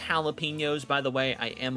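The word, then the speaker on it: jalapeños: That's pronounced jalapenos, by the way.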